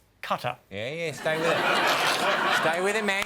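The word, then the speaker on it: Qatar: That is pronounced cutter.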